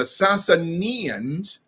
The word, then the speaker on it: Sasanians: sians or the sansanians allow me to pronounce that capital s-a-s-a-n-i-a-n the sasanians now are called iranians